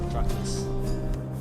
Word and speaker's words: Patroclus: I know his name is pronounced Patroclus. Patroclus!